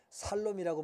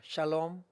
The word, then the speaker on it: 샬롬: 샬롬은 발음이 정확하지 않아도 돼요. 왜냐하면 살롬이라고 말할 테니까. 샬롬이 아니면 살롬이라고 한단 말이에요.